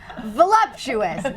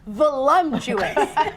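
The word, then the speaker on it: voluptuous: Voluuptuous. Not Volumptuous. Jesus effing Christ. I hate when people mispronounce that word.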